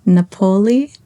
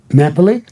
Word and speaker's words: Napoli: Is it Napolei? Napoli.